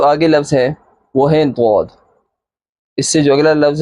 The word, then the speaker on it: ضاد: ضاد ادا ہوتا ہے۔ ضاد کو جب ادا کریں گے تو اس کے اسپیلنگ اس طرح، ضاد زبر الف مد دال، آخر میں دال ہے، حروف کلکلہ، اوپر مد ہے، لفظ کو کھینچیں گے، ضاد ضاد ضاد۔ اب شروع سے پڑھیں